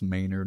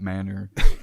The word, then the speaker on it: Maynard: And then Cammie, your little, mic drop correcting everybody on how to pronounce Maynard, not Manor.